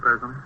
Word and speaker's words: Parazoni: Is that how you pronounce it, Parazoni? Pleased to meet you. Yes, that's right.